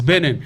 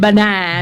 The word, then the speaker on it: Benin: It's Benin. You said benign.